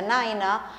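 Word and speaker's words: nine: Aviación eh Por ejemplo tenemos el número nueve que se pronuncia naina el número cuatro faa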